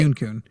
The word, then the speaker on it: Kyun: Kyun says, and it's pronounced like Q, but with an N at the end. Oh, I guess I'm doing better now. You did said it right. Kyun.